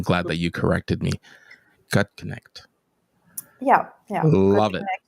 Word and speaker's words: Gutknecht: In fact, I butchered it before we went live, and I'm glad that you corrected me. Gut connect.